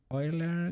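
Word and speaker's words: Euler: There are some fancy words you should know about oiler gimbal lock. And what do they do? that we call it in in Spanish, but Oiler I think is the the correct pronunciation.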